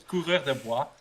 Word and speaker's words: coureur des bois: bit of French, but I know it's coureur des bois, and that's how you should pronounce it. But coureur des bois, for the rest, actually, really, it's about not tryharding with the accent.